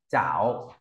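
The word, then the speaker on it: 艹: xong rồi phẩy phẩy, đọc là chảo nhá. C đi với A đọc thành chờ, ta đọc chảo.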